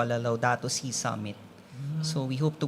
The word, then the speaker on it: Laudato Si: Because we're celebrating the 10th year of Pope Francis' document on Laudato Si.